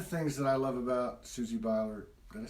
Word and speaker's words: Susie Beiler: One of the things that I love about Susie Beiler, did I say it right?